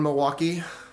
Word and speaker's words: Milwaukee: a bunch of military buddies that live around Milwaukee it's it's pronounced milwauke it's El gonin for the motherland